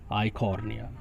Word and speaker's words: Eichhornia: Offset में जो examples include किए गए हैं, first is pistia, PISTIA pistia, and second is आइकॉर्निया, जिसे वाटर हायासिंथ भी बोलते हैं। आइकॉर्निया की स्पेलिंग ध्यान से सुन लेंगे, EICHHORNIA आइकॉर्निया, EICHHORNIA आइकॉर्निया।